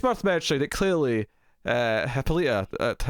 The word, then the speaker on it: Hippolyta: Hippolyta, I keep saying her name wrong. I keep trying to avoid saying the comic book one, so I end up saying it weirdly. Yeah, Hippolyta.